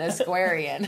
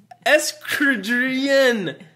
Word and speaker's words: equestrian: wonder if our daughter's going to be an Equestrian. An Equestrian. We were at the Alabama parade last week. Is that how you say it? Esquadrian.